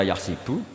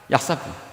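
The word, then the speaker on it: يَحْسَبُ: Tapi guru-guru kita kalau ngajar fikih itu bacanya yahsibu. Tapi kalau baca Quran yahsabu. Ya kan Quran kita kan ayahsabu alla yaqdiro alaihi ahad. Bukan dibaca ayah sibuk.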